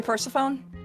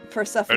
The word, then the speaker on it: Persephone: That's how I pronounce it, of course. People say Persephone, but Persephone is the...